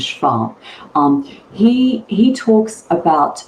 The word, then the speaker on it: Schwab: businesses right so so Schwab talks about sorry I'll use the German pronunciation which is Schwab um he he talks